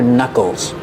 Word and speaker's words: knuckles: These are your knuckles. We see with the word knuckles, the K in the beginning is silent. We don't say knuckles. They're called knuckles.